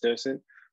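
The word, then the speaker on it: dDocent: I am the developer and primary maintainer for the RAD-seq bioinformatic pipeline docent. And just for a correction, the D is silent, the first D, so it's just docent.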